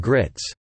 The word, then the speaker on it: Gritz: Under the campaign slogan, "God, Guns and Grits," and publishing his political manifesto, "The Bill of Grits," playing on his last name rhyming with "rights," he called for staunch